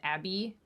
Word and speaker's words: Abbe: Lemon's attorney, whose name I'm actually not super sure how to pronounce because it's spelled A-B-B-E, which I think is Abby, must be Abby Lowell anyway is her name.